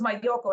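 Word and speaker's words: Malloco: town called uh uh Maloo which in my primitive Spanish is if you separate the word it's crazy yeah so it's my Yoko it spelled like a the two L's sound like a y but anyway um I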